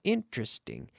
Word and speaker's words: interesting: to be interesting interact we could say interesting but most people most native speakers squeeze this into three syllables interesting interesting I'm interested in